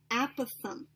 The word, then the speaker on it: apothem: So in purple, this is my apothem. Apothem. All right, I'm just writing out how you pronounce it.